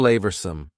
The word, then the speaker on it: flavorsome: and full of flavor notice the pronunciation two schah sounds there FL flavorsome the sauce proved incredibly flavorsome